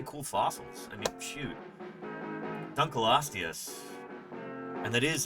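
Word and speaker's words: Dunkleosteus: Duncloius. And that is how it's actually pronounced. Dunl oius.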